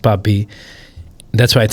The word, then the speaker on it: Bhabi: It's not Poppy. I know what she's saying. It's Bobby, with its way of pronouncing something that's spelled BHABI, but it's pronounced Bobby.